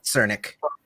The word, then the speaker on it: Cernik: It's Nick. Cernik. Nick Cernik. Cernik. Like it's a Russian last name, so Cernik.